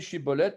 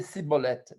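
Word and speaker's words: שיבולת: Et ils devaient prononcer Chibolette et ils ne savaient pas. Ils avaient un cheveu sur la langue et disaient Cibolette, Cibolette.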